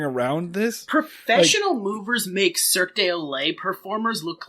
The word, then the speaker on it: Cirque du Soleil: Professional movers make Cirque du Soleil performers look like absolute fucking punks. Cirque du Soleil, my friend. Cirque du Olay is a circus that comes to your house